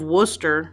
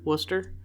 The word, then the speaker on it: Worcester: at the battle of worcester i think that's how you say it in england worcester like worcestershire like worcestershire i say worcestershire i'm